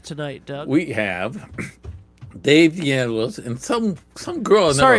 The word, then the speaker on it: DeAngelis: We have Dave DeAngelis and some girl. I Sorry, never hold heard on, hold on, hold on, hold on. Can you say his last name for me one more time? of. DeAngelis.